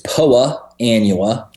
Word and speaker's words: Poa annua: say po Anna uh it is POA anua oh okay that's important uh gets all of us Turf heads in a in a snit on Twitter when the Golf Channel folks Mis pronounce it well they may they make a few mistakes from time to time it's not a poor girl in Alabama it's it's a it's a a grass called Poa Annua and it's related